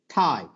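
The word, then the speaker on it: tie: ঠাই, নট টাই। আমরা বলি টাই, বলি ঠাই।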